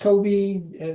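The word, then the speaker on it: COBE: nonetheless carry on So Co the Kobe this pronounced Kobe spacecraft gave us the first inkling of what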